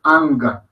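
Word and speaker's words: अं: No se me confundan con la G al final del ang, porque no es anga, no, ang. Es una AN gutural, ang, de sonido corto, breve, ang.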